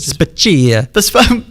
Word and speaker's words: Spaccia: Then they saw the salary of Rizzo's assistant city manager, Angela Spaccia, or Spaccia. I would overpronounce it. Spaccia.